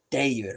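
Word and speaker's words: Dagr: is after now it's it's spelled D A G R but it's de because remember that g is kind of soft g y sound and then once you say it like that it it makes sense it's day de um and he speaks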